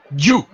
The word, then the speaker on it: Gyu: GYU. How do you pronounce that? Ju. So it's Ju, like Ju, J-U.